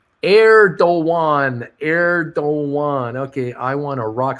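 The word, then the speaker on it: Erdoğan: Bruce, it is pronounced Erdogan.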